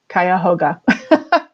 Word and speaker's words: Cuyahoga: public library facebook page cuyahoga is spelled i believe c u y a h o g a and it's also a lot of fun to say kaya hoga so i hope you